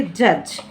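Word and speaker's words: judge: JUDG, डी के just बाद जी है, तो फिर से हम डी को साइलेंट करेंगे और हम इसे पढ़ेंगे जज।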